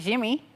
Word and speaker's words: Yimmy: But I think but look at like Yimmy Garcia. He calls it Jimmy.